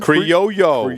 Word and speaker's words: Criollo: Criollo. Criollo. Like a yo-yo. Like yo-yo. It's an Yo-yo. extra syllable. You're missing it.